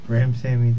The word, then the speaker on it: Ramsawmy: Ramsawmy, the W.